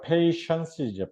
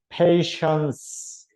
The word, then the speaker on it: patience: 패티로 발음을 하고 싶은 유혹을 던져주는 페이션이에요, 션. 페이션. 그 다음에, 그렇죠. 페이션스죠, 페이션스. 오케이? 음, 페이션. 그래서 여기 이제 션이 된 거, 션. TI가. patience.